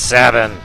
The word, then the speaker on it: Sabin: boss than it looks Sabin if you if there's another way to pronounce it I've never heard it nor do I care because it's Savin I will kill everybody who says it's not Savin with a thousand camels